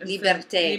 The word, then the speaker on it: liberté: How would you pronounce that? Liberté.